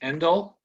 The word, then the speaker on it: Endel: your last name is pronounced Endel. Endel, that's correct.